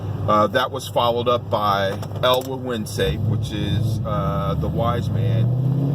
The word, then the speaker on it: El Gueguense: El Gueguense, that's how you pronounce it.